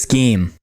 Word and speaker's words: scheme: Is it scheme? Scheme. Oh yeah. You're doing you're doing an unnecessary SCH. No, I'm doing a SHCH almost. Scheme. But because you spell it SCHEME. Yeah, that's why I was joking about Scheme. schism, because it's almost like schism.